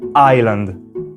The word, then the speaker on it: island: inglese pronunciare quella parola si rende conto che la pronuncia non contiene la s e con un po di pratica riesce finalmente a pronunciare island una tecnica che vi